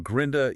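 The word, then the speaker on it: Gründe: Notice the plural form grinda utilizes the um allow over the u changing the pronunciation entirely. Yeah. How does that work physically in the mouth? Well, it goes from a deep ooh sound in grund to a tighter forward in the mouth ooh sound in grind like a.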